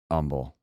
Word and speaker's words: Humble: on this one first the H is silent but Umble yeah I I lived